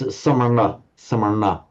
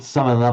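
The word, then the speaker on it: samaṇa: It's samarna. Very strictly pronouncing, not samana, but samarna.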